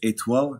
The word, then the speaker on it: Etoile: It's Etoile, like you said.